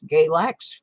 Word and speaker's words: Galax: three three three that's galax rhymes with x-lax for a reason we'll